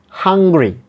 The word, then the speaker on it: hungry: And there is a stress here, primary stress, or the main stress is given in the first syllable.